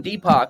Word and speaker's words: DPAK: is a unique or yeah so my name deepo if you spell it the Indian way it's actually a common